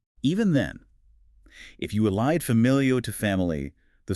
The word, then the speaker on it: familio: So if we take the word for family, familio, the stress is on the second to last vowel, which is the family.